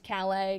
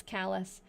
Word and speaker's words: Calais: It's not actually pronounced Calais, because that's how I thought it would be, and I was corrected. It's Calais.